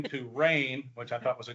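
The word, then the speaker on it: Rayne: um I grew up in a town called rain Louisiana and that's spelled r a y NE and it was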